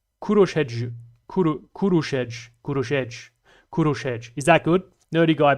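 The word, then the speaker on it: Kőröshegy: It's not Koroshegi, which is what I said in the video. My apologies, Nerdy Guy BP. It's pronounced that. Kurush Hedgj, but spoken as one word. Kurushedj.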